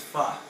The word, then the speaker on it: pho: I think you're probably referring to, let's say, if I took Gramo to a pho place, or actually pronounced pho, but everybody calls it pho, which is a Vietnamese noodle soup in a clear beef broth.